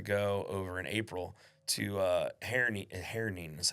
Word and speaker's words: Herning: And I'm not going in the fall for the festival, but I got asked to go over in April to Herning is how you say it.